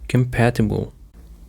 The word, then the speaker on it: compatible: The stress on the second syllable, compatible, it's an adjective, and it means able to exist, work, or be used together successfully without conflict or problems.